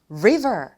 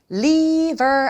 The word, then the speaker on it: river: 그렇다면 대표적으로 river 이렇게 연습해 보시면 좋을 것 같아요. liver 아닙니다. 자, river이라고 하셔야지 liver이라고 하면 안 돼요.